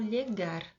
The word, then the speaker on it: llegar: Que se escreve com LL, llegar. Eu falo llegar. Chegar, que se aproxima bastante, né, com o nosso português.